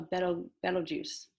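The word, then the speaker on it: Betelgeuse: a bright star called now i think i'm pronouncing this right because i looked it up it's a better metal juice almost like beetlejuice you would have to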